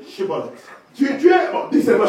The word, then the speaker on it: Shibboleth: They said to him, say now Shibboleth. Il dit bon, dis Chibolette. And he said, Sibolet. Et il disait Sibolette.